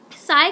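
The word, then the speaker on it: psi: in this symbol okay फ इसको pronounce मत करना फ अगर आपको उसमें कंफर्टेबल हो तो वैसे कर सकते हो ब ठीक है साई करो तो अच्छा होगा ठीक है साई साई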